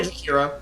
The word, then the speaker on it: Jakiro: You just say Jakiro.